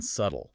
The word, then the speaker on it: subtle: Well, they also mentioned recently figuring out the silence b in subtle. Ah, subtle. S u t-l.